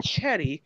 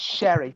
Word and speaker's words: Cherry: It's spelled Cherry, but she's French, and she says it's not Cherry, it's Sherry.